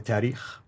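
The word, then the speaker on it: تاريخ: When you said tahriq, it meant grammar.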